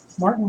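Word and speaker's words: Márton: Age Martin Strom gold Martin with the accent on the a Creek goes back with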